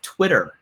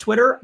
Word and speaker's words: Twttr: The original name of Twitter, I'm pretty sure was still pronounced Twitter, but it was TWTTR.